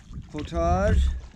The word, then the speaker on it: portage: We're going to do a 85 and an 80 rod potage. That's the correct way to say portage.